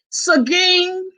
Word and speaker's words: Seguin: And then he spoke of the little town that my youngest son went to college at, Seguin, and then he pronounced it correctly, Seguin, Texas.